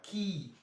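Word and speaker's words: quay: at the seashore and that key that's q u a y key the same pronunciation the a why there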